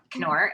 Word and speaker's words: Knorr: And the K, I know everybody pronounces it with a soft K because that's what we grew up with, words like knife, etc. But it is actually a hard K, Knorr.